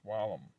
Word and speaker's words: vallum: The Latin V, however, was like the English W early pronouns, like wine, Latin venum, pronounced with venum, and wall, Latin vallum, pronounced wallum. Wallum.